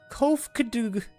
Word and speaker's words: Kofkadoo: As for a nomenclature to address my individual person, I believe it would be pronounced Kofkadoo Kofud.